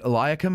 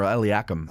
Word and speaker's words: Eliakim: men don't see it do you pronounce it eliakim or eliakum i never pronounce it e cheryl yeah i don't blame you but uh which way would you pronounce it iliac well i like eliakim okay but then i've heard other people say iliacum and i was like